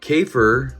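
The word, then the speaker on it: Käfer: her open now so volkswagen k for racer cafer is how you say bug in german so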